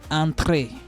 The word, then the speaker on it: entrée: Entrée. Why is this one sounding? It's because of the accent that is on it.